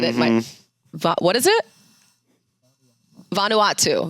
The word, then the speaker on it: Vanuatu: Well, because the islands that they go to, um Vanuatu? I don't I don't know how to say it, but that's all I've ever said it in my What is it? Vanuatu. Vanuatu.